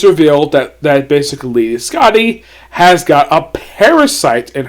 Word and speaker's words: Skati: The way they pronounce her name in the dub, it's pronounced Scotty, as in Scttti, even though her name is spelled Skati.